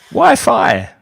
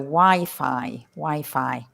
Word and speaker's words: Wi-Fi: notice the pronunciation of Wi-Fi, and it's not Wi-Fi, because a lot of people from other languages say Wi-Fi, but it's not Wi-Fi. In English, we say Wi-Fi, and it stands for wide fidelity, doesn't it?